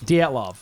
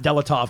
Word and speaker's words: Dyatlov: I phonetically, I would say Dyatlov. Dyatlov. All right, fine. So, it's not Delatov cuz there's no L in the beginning like that. It's just not spelled like that.